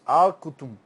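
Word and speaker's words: القطن: Você quase não pronuncia esse U e essa letra U, como se fosse alqudm.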